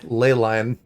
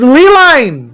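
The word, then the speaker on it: ley line: say Leyline. It is Leeline! No, Yes! Not No. a burden. Don't think it's that for Yes. a spelled. second. It's spelled We need you, Lay. all of us, for our sake. Okay, how do you say key lime pie? Please. It's not ley lime.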